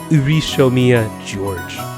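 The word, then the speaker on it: Ushiromiya George: His name is pronounced Urishomiya George.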